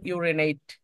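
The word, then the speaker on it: urinate: ইউরিনেট ইউরিনেট ইউরিনেট ইউরিনেট এটার সঠিক pronounce আপনি করেন সঠিক উচ্চারণ তাহলে হবে ইউরিনেট এইট এই টি শেষ শেষে আছে এই টি ইট এই আর ইটাছিলাম কিন্তু ই যখন শব্দের শেষে হয় একদম শেষে যদি ই থাকে একটা তাহলে উচ্চারণ হবে না এটা আমি দেখি নাই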